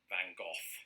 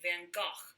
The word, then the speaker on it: Van Gogh: yeah yeah um yes in britain we say van gogh here in america growing up i was conditioned to say van gogh but increasingly i've heard americans say things like van gaach or van gogh i wonder if doctor who is that i've heard that the dutch is closer to that first one you said there but or something you